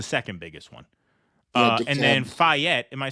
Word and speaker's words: Fayette: So Fayette County, we got into that a little earlier.